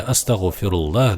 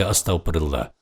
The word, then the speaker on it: астагфируллах: Оказывается, они просто не знали арабского языка и вместо астагфируллах говорили астаплла.